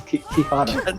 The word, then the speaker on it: quixotic: slap on the bum because it's quixotic, I guess. It is interesting that the word complete when it's quixotic you pronounce it as it's written, but then it's similar